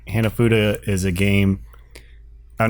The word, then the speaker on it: Hanafuda: Is that what it's Hanafuda? That's how you pronounce it.